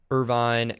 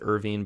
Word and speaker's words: Irvine: 92 614 and we'll go to Irvine, California. I think I said Irving before.